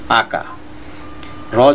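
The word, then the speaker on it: occur: Viewers আমি এখানে একটা কথা বলে নিই, আমরা কিন্তু প্রচলিতভাবে অকার শব্দ বলে আসছি, আসলে এই শব্দটা উচ্চারণ হবে আকা, র যদি উচ্চারণ না করে তাহলে আকা, আর রয়ের উচ্চারণ করলে হবে আকার।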